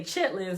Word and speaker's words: chitterlings: like yes because I'm the person who is spelled chitterlings ch ITT ER Li ng s and say chitlins on stage right so we wrote